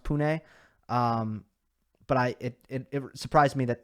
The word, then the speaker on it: Pune: I know that they have, I believe it's pronounced Pune.